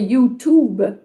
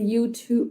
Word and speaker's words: YouTube: Toujours le OU sound. Ouh. Puis c'est intéressant parce que moi, je disais YouTube. Fait que mon Mhm. T était vraiment trop prononcé. Fait que c'est YouTube, YouTube.